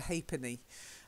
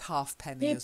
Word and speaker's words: ha'penny: now this next one you'd think it would be half and penny but it's a bit like that three penny so in the past that was called a thrupenny and this is called a ha'penny a ha'penny but I'll accept half pennies you know yeah Hoss